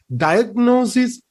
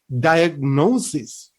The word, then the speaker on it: diagnosis: to pronounce this as diagnosis no it is wrong it should be diagnosis diagnosis okay according to british standard pronunciation it should be diagnosis okay the next thing